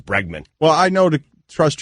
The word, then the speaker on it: Bregman: went to the 10th inning and is it Bregman he hit a walk-off home is that is